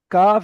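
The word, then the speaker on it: قاف: কফ কফ জিহব্বার গোড়া ওই সোজা উপরের তালুর সঙ্গে লাগিয়ে কফ উচ্চারণ হয়।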